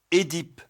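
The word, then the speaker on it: Œdipe: Leur correspondant français s'écrit avec la double voyelle OE, mais prononcé E. Édipe, énologie, œsophage, fœtus.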